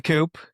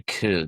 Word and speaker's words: Coup: So you're in the Coop. Yeah, so it's actually Coup. P is silent.